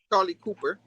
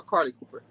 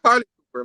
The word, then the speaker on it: Carly Cooper: Then they go back to the jail cell where Charlie Cooper. I mean, did I say it right? Charlie Cooper or Carly Cooper? I already forgot her name. Not Charlie. Carly. Yeah. Carly Cooper. My bad.